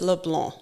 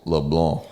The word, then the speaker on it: Leblanc: So my husband is from southern Louisiana, New Iberia, Louisiana, and it's Leblanc. Leblanc. No C.